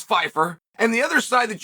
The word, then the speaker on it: Pyfer: you probably don't know how to spell or pronounce Fifer and the other side